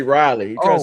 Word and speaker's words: Raleigh: he tried to say Raleigh. He tried to say Raleigh. Raleigh. Raleigh. But But he said he said, "No, I thought that's how they pronounce it was like raw and lei."